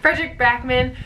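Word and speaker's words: Fredrik Backman: The next book that I loved in 2017 was A Man Called Ove by Frederick Backman. Why did I say it like that? Frederick Backman.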